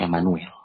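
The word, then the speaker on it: عمانويل: Ain, mim, alif, nun, waw, ya, lam. Emmanuel. Kita membacanya Emmanuel. Bahasa Arabnya di sini Emmanuel.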